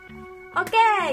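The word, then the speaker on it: を: Oke, yang terakhir. Ini yang terakhir ya, teman-teman. Berikutnya kita mau belajar tentang wa. O dan wa, o atau wo bacanya.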